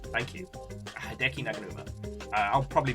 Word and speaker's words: Naganuma: Naganuma, thank you. Hideki Naganuma. I'll probably mispronounce it 3 times.